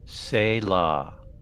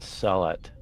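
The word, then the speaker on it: sehlat: of them Jill Jill SAA not salot oh right there is a there is a correction of pronunciation that's fuck is and then of course McCoy goes solot I'm like no SA okay oh wait why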